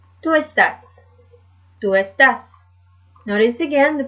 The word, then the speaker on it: está: as you can tell, has the acute accent mark as well, just to give that accent on that particular syllable. Ella está. Not esta, but está.